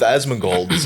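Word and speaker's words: Asmongold: in that regard it's so it's pronounced asmin gold yeah cuz people in the comments wait how did you pronounce it Osman gold Osman like Donnie Osman gold yeah yeah more or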